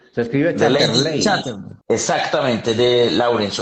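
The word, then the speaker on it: Lawrence: escribe ch exactamente de laurence o laurence David herbert laurence laurence lorence es laurense para que lo tengan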